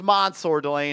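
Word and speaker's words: Mansoor Delane: His name is Mansour Delane, and this is a good pick. Yeah, spelled Mansour, pronounced Mansour.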